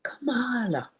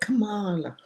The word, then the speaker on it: Kamala: She said, I cannot understand why they can't pronounce that woman's name. And I said, what name? Kamala. Why do they say everything but Kamala?